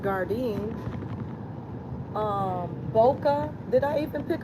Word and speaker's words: Gardein: Beyond, Impossible, Morning Star, Garden, which I guess is pronounced Gardein, Boca.